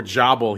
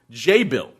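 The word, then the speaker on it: Jabil: pronunciation I said before jabble he said it's Act jabble is a tech name and it's actually pronounced J Bill and they pronounce they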